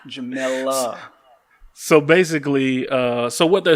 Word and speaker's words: Jemele: So, let's pronounce her name right, Jemele Hill. I extend my L's, man. I extend my L's. You know this, right? Jemele.